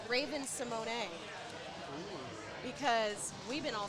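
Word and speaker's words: Raven-Symoné: Uh, or actually the one that I heard recently, it's Raven Simone because we've been all saying it wrong for a thousand years. I've been saying it Ravon.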